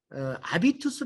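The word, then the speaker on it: habitus: 않은 것 같아서 이제 아비투스 라고 하는 많이 써요 아비투스 는 이게 제도 기르기 때문에 h 가 발음이 안 돼요 그렇죠 게 인간의 품격을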